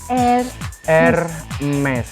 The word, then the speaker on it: Hermes: Hermes, huruf H-nya itu agak dihilangin aja, terus R-nya itu kayak pelan-pelan gitu.